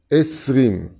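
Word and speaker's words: עשרים: Esrim. Esrim, ça s'écrit comment?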